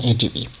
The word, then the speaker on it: ADB: as a word itself, but it is pronounced as a sequence of individual letters like A, D, and B, or L, C, D.